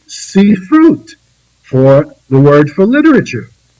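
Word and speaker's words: ספרות: in the ancient language, ended in ut, the letters vav, tav, pronounced ut, they coined sifrut for the word for literature.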